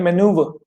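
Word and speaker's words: manoeuvre: देखो, मैंने इसकी स्पेलिंग कैसे, पहले इसकी प्रोनाउंसिएशन सीखते हैं। इससे बोलते हैं मेनूव।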